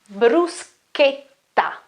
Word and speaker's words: bruschetta: cheese and tomato, is bruschetta, bruschetta, bruschetta. C-H-E, okay, is che, and then again double T, so it's a longer T, bruschetta, ta. Obviously the R sound is always r, bruschetta.